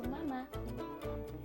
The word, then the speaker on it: mamá: It's the same word, it just has an accent at the end. So instead of mama, it's mama.